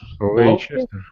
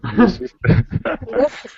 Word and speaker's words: Leicester: Leicester. Leicester. Leicester. No. Leicester. Close. Leicester. Leicester. Take out one of the S's and you have it.